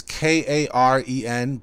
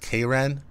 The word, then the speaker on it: Karen: me yeah so it's k-a-r-e-n but it's the male version so it's pronounced k-ren not karen okay so don't yeah